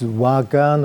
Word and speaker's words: Wagwan: And the pronunciation of this word is wagan or wagan, quite similar to your greeting phrase, wagan.